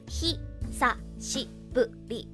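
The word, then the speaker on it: 久しぶり: Yes, Rui, it's hi, sa, shi, bu, ri. It's a H-I instead of a S-H-I.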